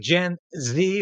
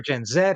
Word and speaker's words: Gen Z: I saw revealed that gen Z or gen Zed however you want to pronounce it is one of Justin